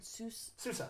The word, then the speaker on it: Sousa: What I can't, I always pronounce his name right. Sousa, like John Sousa.